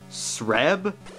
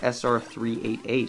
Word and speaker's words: SR388: This game's merits are being the only numbered Metroid, and was probably the most believable Metroid setting on the planet Sreb? Okay, so it's pronounced SR388 apparently, but come on, you can't blame me for making that mistake.